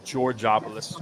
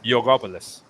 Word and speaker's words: Georgopoulos: name on my Greek side is Georgopoulos, you'd say, or George's, the English side, but it's Yogopoulos, right? The Y, the G is the Y. It's just like gyro is a euro, so you say it like that.